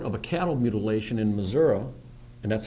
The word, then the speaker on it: Missouri: got a report of a cattle mutilation in missoui and that's how it's pronounced by the way missou not Missouri Damn Yankees um it's uh uh not too